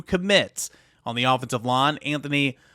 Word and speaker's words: Antoni: over there it's Anthony it's actually pronounced Anthony Anthony okamuro he becomes Tennessee's